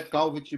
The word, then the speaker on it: Calvet: o autor é causa o te é mudo de Magalhães a E é só um minuto aqui que eu já dou o primeiro nome aqui José Calvet Magalhães tá ele que